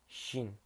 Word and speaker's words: Qin: I pronounce it Qin.